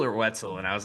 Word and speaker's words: Wetzel: I know we need to introduce you is Joanne Wetzel. Is that right? Yes. Yep, you got it. Pronounced it correctly. I didn't know if it was Weatzel or Wetszel and I was like, "All right, we're going